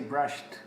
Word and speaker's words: brushed: branch of service and pay attention to the pronunciation as it just told me this a brushed ten with ten sound of death you don't